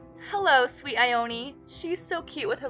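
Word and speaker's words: Ione: her name correctly but it's spelled the same as the actress ioni Sky so I say ioni although I'm not quite sure if that's the way it was intended hello sweet ioni she's so cute with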